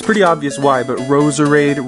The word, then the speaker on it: Roserade: pretty obvious why but Roserade rhymes with Rose Parade it sounds almost exactly the same and I just